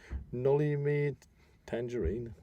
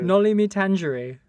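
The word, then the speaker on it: Noli me tangere: Can you pronounce it? Can you remember? Nolly me tangerine. I don't know. Nolly me tangere.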